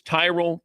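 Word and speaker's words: Tyrol: It's Tyrell Pickle Ball Shoes. You spell it T Y R O L.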